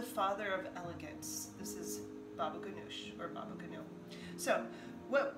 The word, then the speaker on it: baba ganoush: Today we're going to do a simple dish called baba ganoush, otherwise pronounced as baba ganu.